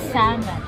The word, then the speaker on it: salmon: But they pronounce it salmon. Silent L.